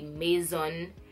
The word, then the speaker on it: Maison: because with the Mason if you go to another country in Europe they might pronounce it like mais own the a I yes